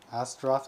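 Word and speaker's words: Astaroth: gundam Gundam as Dre oh Gundam astroth astroth origin sorry that's how I'm supposed to pronounce it and Gundam Val so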